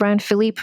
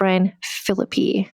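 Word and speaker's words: Ryan Phillippe: It looks like it's pronounced Ryan Philippe, but it's pronounced Ryan Philippi.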